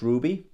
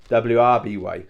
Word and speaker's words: RWBY: back I did finish Ruby so RWBY I think last week I pronounced it wrby so sorry if I